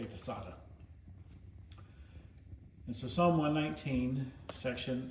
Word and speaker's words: Tsadhe: way of pronouncing it I learned from Israeli engineers that I used to work with and they pronounced it tada. So I say tada.